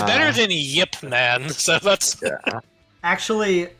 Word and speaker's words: Ip: Mandarin or Cantonese, but the pronunciation that I heard was Yip, short Y, but Yip.